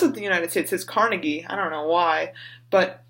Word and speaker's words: Carnegie: you pronounce that like like I say Carnegie Hall because I Andrew Carnegie was from well he's from the UK but he lived in Pittsburgh got a moving Pittsburgh says Carnegie the rest of the